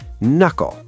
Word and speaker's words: knuckle: Knuckle. The K n u c k l e becomes nle.